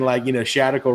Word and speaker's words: Shadical: And then Shadical rhymes with radical, and radical just means not in the center.